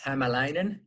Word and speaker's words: Hämäläinen: i i've i've heard everything so uh it's himalayan pekka pekka hamelina actually in finnish it would